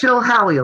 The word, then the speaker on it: Chilhowie: Yeah, it's Chilhowie, like Howie Mandel.